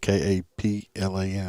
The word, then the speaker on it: Kaplan: This one's uh from Kaplan because you would have slaughtered that because it's spelled K A P L A N. It's Kaplan.